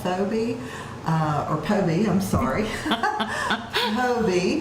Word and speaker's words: Phobee: But I will tell you, if you will call Phobee, or Phobee, I'm sorry, Phobee. The H is silent.